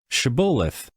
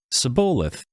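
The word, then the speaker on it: Shibboleth: If he said no, then they said to him, "Now say Shabolith." And he said, "Sabolith." For he couldn't manage to pronounce it correctly.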